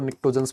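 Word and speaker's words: pnictogens: सर इनको निकोजंस भी बोला जाता है। है ना? बहुत सारे लोग निकोजंस बोलते हैं। निकोजंस जो आपको ठीक लगे। पी तो जरूर साइलेंट है।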